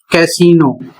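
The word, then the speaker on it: casino: इसमें कह रहा है कि कुछ विशेष शब्दों में आई का साउंड बड़ी ई होता है। अक्सर फ्रेंच ओरिजिन अर्थात जो फ्रांसीसी भाषा है जो फ्रेंच से आई हुई है उसमें बड़ी ई का उच्चारण किया जाता है।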